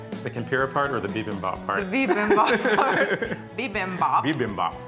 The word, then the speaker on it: bibimbap: how to make, which is, I can never pronounce it right. The tempura part or the bibimbap part?